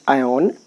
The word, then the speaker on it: iron: iron के लिए ion actually pronunciation by iron is ion.